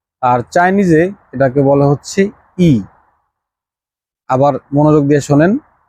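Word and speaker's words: 一: এক ইংরেজিতে ওয়ান আর চাইনিজে এটাকে বলে হচ্ছে ই আবার মনোযোগ দিয়ে শোনেন ই মানে হচ্ছে ওয়ান বা এক এরকম রেল লাইনের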